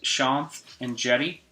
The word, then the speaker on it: Shanth Enjeti: and again this is Sean and Jenny I know it's always tricky to figure out how to how to pronounce my name is just Sean with a th and I have an